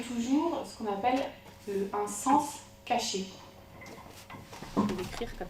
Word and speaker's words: cens: Sens, ça s'écrit C-E-N-S, donc le sens.